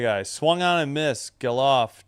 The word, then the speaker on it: Gelof: Geloff, G-E-L-O-F. Or Geloff? Maybe Geloff? I have no idea. 0-2. 2 outs. Geloff. I was right the first time.